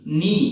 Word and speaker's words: knee: নলেজ অর্থ হচ্ছে আমাদের জ্ঞান, এই জায়গাতে হচ্ছে KNEE, নি, এই জায়গাতে KN একসঙ্গে, নি অর্থ হচ্ছে আমাদের হাঁটু।